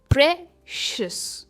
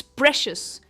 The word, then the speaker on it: precious: ये प्रीशियस नहीं है, ये है pray and नॉट प्री, प्रेशियस। इट्स प्रेशियस एंड नॉट प्रीशियस, प्रेशियस।